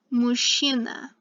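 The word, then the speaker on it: мужчина: means man and notice that the chia is pronounced like a sha here mushina actually more like a sha and it means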